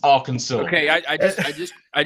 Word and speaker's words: Arkansas: is Kansas pronounced Kansas and Arkansas is pronounced aranso okay I I just